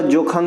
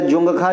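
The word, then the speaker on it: Dzongkha: और भूटान में आपका जोख चलेगा या जुंगा चलेगा इसका डी साइलेंट रहता है डी से लिखा जाता है इनके अलावा म्यानमार में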